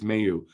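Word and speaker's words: Mailloux: I'm going to say it right eventually it's Mayu keeping you next year in Laval I could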